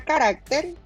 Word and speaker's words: carácter: si tengo la palabra carácter d recuerden que es de derecha a izquierda esta seria última y esta seria penúltima pues la fuerza de pronunciación está en la penúltima sílaba ahora siempre te vas